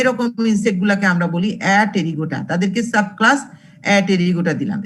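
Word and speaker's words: Apterygota: ক্লাসটাকে 2টো সাব ক্লাসে ভাগ করেছি, একটা হলো অ্যাটেরিগোটা, আরেকটা হলো টেরিগোটা। আবার উচ্চারণটা কিন্তু অ্যাপটেরিগোটা বলো না, হ্যাঁ, পি এর উচ্চারণটা কিন্তু সাইলেন্ট এখানে, APRYGOTA।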